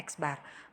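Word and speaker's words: x̄: itu rata-rata ya Jadi kalau ada X diatasnya ada tanda strip itu bacanya eksbar atau rata-rata jadi kita hitung dulu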